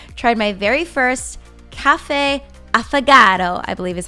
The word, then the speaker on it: affogato: I tried my very first cafe affogato, I believe is how you say it.